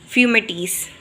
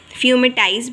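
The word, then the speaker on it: fomites: भी कहते हैं, कोई फ्यूमिटाइज़ भी कहते हैं। तो डिफरेंट प्रोनाउंसिएशन होती है डिफरेंट वर्ड्स की, डिपेंड करता है कि आप उसको किस तरह से पढ़ रहे हैं।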